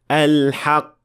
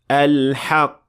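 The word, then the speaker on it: الحق: The mistake sounds like this. Al-haq, khalaq. So to show the qaf, you must apply qalqala to make sure that it is audible. Al-haq, khalaq.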